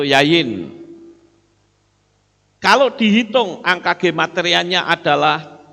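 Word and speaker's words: יין: Yod, yod, nun, sofit. Itu yayin.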